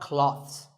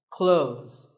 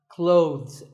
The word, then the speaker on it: clothes: well first of all this word is not cloths when we say clothes the th in the middle can often be silent close but it's not wrong if you say these letters with a the sound clothes that's also correct in some words people